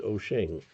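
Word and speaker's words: Wouxun: So it's wo ux n pronounced oen the um uh spelling of Chinese words in English.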